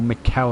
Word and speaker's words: Michel: And that is Richie Michel, or Michele, I believe he said it's pronounced.